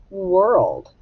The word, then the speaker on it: world: map it w wha now the or we don't hear or we hear er and i'm gonna put